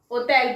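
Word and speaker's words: hôtel: चलो, okay, होटल, इसको हम ओतेल पढ़ेंगे। क्या पढ़ेंगे? ओतेल।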